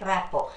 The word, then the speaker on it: rapport: p o r rapport reports that uh the pronunciation goes like rapport this rapport building is one of the essential